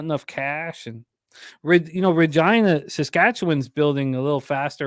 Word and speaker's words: Regina: But yeah, they said that there's a sign that says Regina, the town that rhymes with fun.